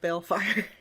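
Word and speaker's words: Baelfire: Bellfire. Bellfire. Yeah. But it's like B-A-E-L fire. It's spelled like Balefire.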